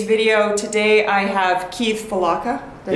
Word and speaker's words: Fulawka: Today I have Keith Fulawka. Did I say it right? Yeah, close enough. Okay. Almost. How do you say it? Fulawka. Fulawka.